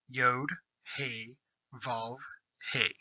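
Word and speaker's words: יהוה: It is pronounced by saying the name of the 4 Hebrew letters that make up the name, Yod, He, Vav, He.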